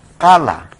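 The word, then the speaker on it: qala: Aquí es kala, se escribe con Q-A-L-A, es kala.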